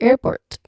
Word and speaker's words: airport: The R at the end of syllable might be silent or very subtle since it's nonrotic.